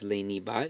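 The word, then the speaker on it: lenibat: verb softened laney bot normally this would be lanierbot but virgil has taken a little liberty here and taken out a syllable to make it fit the meter it's a fourth conjugation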